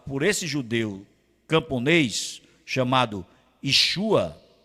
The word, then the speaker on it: Yeshua: Depois desse fuzuê que foi causado por esse judeu camponês chamado Yeshua é assim que se pronuncia eu encho a ou Jô ele foi